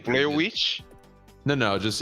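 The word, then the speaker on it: The VVitch: Witch? No, just it's called Witch, but it's spelled like VVITCH.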